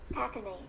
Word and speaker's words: cachinnate: Cachinnate.